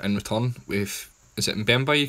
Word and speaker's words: Mbemba: getting a centre-half in return with, is it Mbemba you call him? Yeah, Chancellor Mbemba, yeah. That's it, I couldn't pronounce his name. Right, so it's Mbemba.